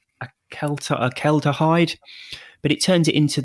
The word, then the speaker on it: acetaldehyde: your body processes alcohol by turning it into a chemical that I will try and pronounce. I always get it wrong, but I think it's acetaldehyde.